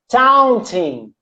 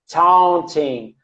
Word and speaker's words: taunting: Taunting. Taunting, taunt, which means provocar, to provoke someone. Taunting, taunting. It's very nasal, okay, Carol?